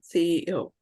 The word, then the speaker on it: CEO: pronounce uh CE EO so it's not C it's CEO you have to pronounce individual letters okay okay teacher EO CEO CEO okay sounds great